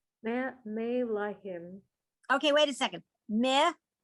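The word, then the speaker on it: מְלָכִים: Melachim. Is it supposed to be May or Meh? It's meh, more like the I in it.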